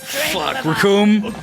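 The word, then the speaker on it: Recoome: Oh yeah, there's the Captain Ginyu, Jace, Birder, Raccoon. What am I missing? It rhymes with Doom.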